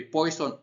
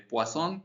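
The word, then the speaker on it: Poisson: En cuanto a la distribución de poison o de poazón, dependiendo cómo se lo quieran pronunciar, este x es la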